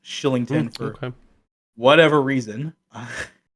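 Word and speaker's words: Kylington: of the Calgary Flames Killington it's it looks like Killington but I always hear it pronounced Shillington for okay whatever reason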